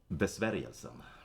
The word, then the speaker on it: Besvärjelsen: How do you pronounce it again? Besvärjelsen.